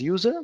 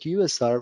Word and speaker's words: usr: configuration in the system USR also pronounced as user but better to pronounce it USR which stands for Unix